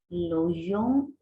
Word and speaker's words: logent: Oui, l'hôtel qu'ils logent est très chic. Attention, on ne prononce jamais ENT à la fin.